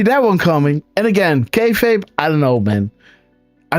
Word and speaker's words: kayfabe: No, you said you did say it right, by the way, kayfabe.